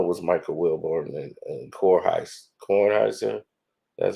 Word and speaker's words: Kornheiser: I know it was Michael Wilborn and Kornheiser.